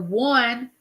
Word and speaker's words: one: The number one has the W sound, and it's spelled One.